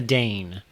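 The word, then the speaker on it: Dane: there's like this is Diana danne who rhymes with Lois Lane because she's wrer DC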